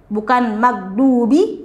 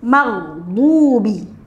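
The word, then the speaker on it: المغضوب: Tapi kalau ini kita menggunakan huruf ghain, ya, ghairil maghdubi, tidak seperti huruf dal ya, bukan magdubi ya, tapi maghdubi. Bunyinya beda ya antara dhad dengan huruf dal ya.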